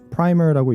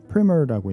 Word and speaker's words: primer: 그런데 여기서는 프라이머라고 읽지 않고 프리머라고 읽는데 의미가 좀 다릅니다.